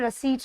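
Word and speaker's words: receipt: अब लास्ट में हमें सी लिखना है, हम यहाँ पर रसीट लिख लेंगे। ये हो गया हमारा राइट प्रोनाउंसिएशन। इसमें आपका पी अगर आएगा तो वो हमेशा गलती से आएगा।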